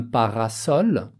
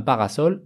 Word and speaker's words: parasol: Un parasol, un tournesol. Ici, malgré qu'on a le S au milieu des deux voyelles, eh bien, on le prononce quand même un S, comme un S.